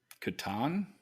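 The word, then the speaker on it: Catan: the settlers of how do you say it Katon there you go all right is there another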